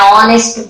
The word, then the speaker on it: honest: voice in order so H is silent and the sound reaches